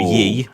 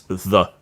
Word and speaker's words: ye: So it's not ye, it's the. A thorn. Oh wow! So yeah, that letter that people mistake for a Y is actually a thorn, and it's pronounced TH. So.